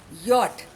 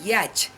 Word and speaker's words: yacht: This is pronounced Y-O-T but written Y-A-C-H-T.